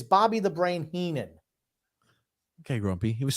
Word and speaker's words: Heenan: ham and Egger courtesy of Bobby the brain Henman so much Keenan spelled it wrong but you still pronounced it wrong it's Bobby The Brain Heenan okay grumpy he was spelled wrong that's why